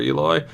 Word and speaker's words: Eloy: 1-out single for Eloy. I've heard it pronounced both ways. I normally went with Eloy, but then I heard Eloy, so now I say Eloy.